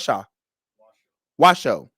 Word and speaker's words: Washoe: which allows Clark and which I said with show wish you what Shaw Washoe it's spelled with shoe but Washoe counties to